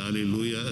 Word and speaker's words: hallelujah: liturgy that i entered at the hallelujah it's four syllables another study english so